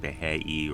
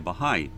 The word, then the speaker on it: Baha'i: to be a Baha'i although I believe I mispronounced it it said something like the heyy or something like that but I said I would like to be a Baha'i she was kind of